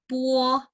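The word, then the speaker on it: bo: Puo, puo. Oke, bacanya pu, o, puo. puo. Masih di puo. Ya, puo. Bukan bacanya langsung baca po, bukan. Tapi ada u-nya sedikit.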